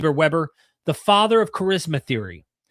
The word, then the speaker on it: Weber: Max Weber, I believe you pronounce it Weber, the father of charisma theory.